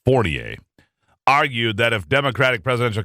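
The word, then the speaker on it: Fournier: Journal senior political colonist Ron fornier or fornier I guess it is it's pronounced fornier argued that if Democratic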